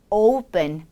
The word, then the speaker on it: open: 열린 냄비라고 한다면 open pot이 아닌 open pot, open pot 이렇게 발음해 주시면 됩니다.